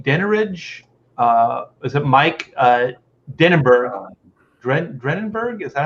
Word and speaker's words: Dringenberg: Is it Mike Dennenberg? Drenenberg? Is that how you say his name? Dringenberg.